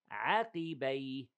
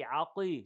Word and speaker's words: عقبي: ينقلب على عقبيه. عقبي, don't say عقي, عقي, no.